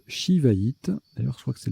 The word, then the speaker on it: Shivaïte: peut également jouer S-I ou C-C-D-I, ça se prononce Shivaïte, d'ailleurs je crois que c'est la seule, ça